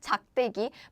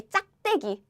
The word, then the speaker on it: 작대기: So I think 작대기 is how we are supposed to pronounce 작대기, but many Korean people say 짝대기. So 짝대기 is common one. Actually, in my case, I say 짝대기.